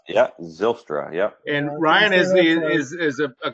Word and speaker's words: Zylstra: You say it's Zylstra? Is that how it's pronounced? Yeah, Zylstra, yep.